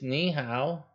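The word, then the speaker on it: 你好: You can say hello, which is ni hao. Ni hao. And that's how you spell it.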